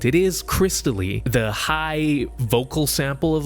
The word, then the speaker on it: Xtal: All right, how can we talk about music that captures vibes without mentioning Aphex Twin and his song Xtal, which I think is supposed to be pronounced crystal?